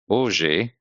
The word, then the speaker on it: hoje: And fomos hoje also follows because the H is silent.